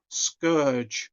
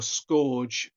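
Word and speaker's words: Scourge: one I bought was skourge or scorge depending on how you want to pronounce his name um now I always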